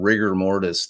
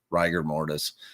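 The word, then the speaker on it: rigor mortis: everybody who's been saying rigger mortise their whole lives just so you know you're wrong it's ryer ryer mortis wrong but it's always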